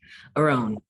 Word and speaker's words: Arawn: Arawn. You go, The okay, the emphasis on the second syllable.